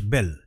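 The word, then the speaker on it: Belle: The youngest girl was বেল। আচ্ছা দেখো, এটার উচ্চারণ কিন্তু বেল হবে, হ্যাঁ, শেষের যে ই আছে সেটার কিন্তু উচ্চারণ হবে না, বেলে বলে কিন্তু উচ্চারণ হবে না, হ্যাঁ, বেল হবে, ঠিক আছে?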